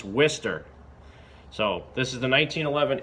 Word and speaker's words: Worcester: Mass and yes it's pronounced twister even though it's spelled wor c est ER it's not war sester it's not Worchester it's not wood sir it's Wistar so this is the